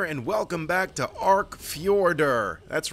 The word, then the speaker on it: Fjordur: welcome back to Arc fjorder that's right I know how to say it it's just stupid why are you putting the J in there if it's pronounced like a y you know get a